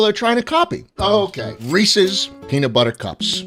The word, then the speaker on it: Reese's: Okay, Reese's Peanut Butter Cups. And no, it is not Reese's. Okay? If you say it like that, I pray every night for you to burn in hell. A Reese's Peanut Butter Cup is